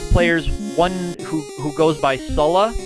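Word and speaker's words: Sullla: A couple of players, one who goes by Sulla, S-U, 3 L's and then an A, or Sula, I think is how you say it.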